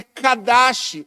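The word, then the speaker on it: קדש: Essa palavra, consagrar, consagrar, no hebraico ela é kadash ou kadosh.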